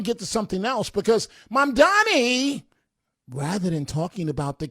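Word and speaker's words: Mamdani: The name is Mom Donnie. M-A-M-D-A-N-I. The name is Mom Donnie. M-A-M-D-A-N-I. Okay, the name is Mom Donnie. But go learn how to say it.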